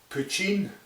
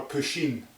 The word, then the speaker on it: poteen: The Irish have this word called, you can either pronounce it poteen or poteen, or poteen, P-O-T-E-N, but basically it means moonshine.